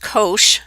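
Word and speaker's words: cosh: this graph now the hyperbolic cosine and that's pronounced Kosh and that's what it looks like is the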